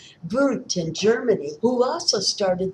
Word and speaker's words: Wundt: Number three is Boot and that is spelled with a W. Boot in Germany who also started the first psychology lab.